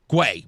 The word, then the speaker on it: Guay: Guay, Marty Guay.